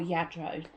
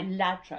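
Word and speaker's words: Lladró: Or Yadro, depending on how you pronounce it. I always say Ladro because I'm British.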